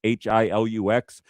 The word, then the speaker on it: Hilux: You guys know what a Toyota, I don't know if it's pronounced Hilux or Helix, it's Hilux.